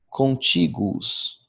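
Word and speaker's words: contiguus: Contíguos, contíguos, com dois U's bem pronunciados e acento tônico no I.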